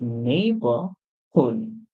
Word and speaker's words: neighborhood: is neighborhood neighborhood and how many silent letters are in neighborhood we have a g that comes after EI and we have the U if you are an American that comes after the O at the end okay our next